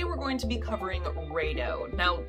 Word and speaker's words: Raidho: going to be covering raido now some people pronounce it ride ho and i think it's actually more technically like redo something like that so